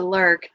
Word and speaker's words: Lairg: So for instance, in the Lairg, I can hear everybody in Lairg correcting me to Lurg pronunciation.